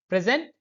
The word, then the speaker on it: present: present present opposite of absent gift it has a slight change in pronunciation first we need to stress on first pre first part present second present present I